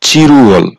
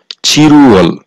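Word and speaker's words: 칠월: হচ্ছে জুলাই মাস আর এই চিলউয়াল এর সঠিক উচ্চারণ হবে চিরুয়াল চিরুয়াল জুলাই মাস ফালউল ফাল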